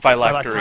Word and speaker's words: phylactery: Okay, before I get into this, someone help me with the pronunciation of their damn thing. Phylactery.